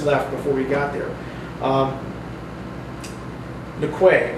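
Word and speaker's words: Newquay: Nquay. I pronounce it Nquay, but the people in Scotland called it Nookie. And so they would always say, "Oh, you're going to Nookie."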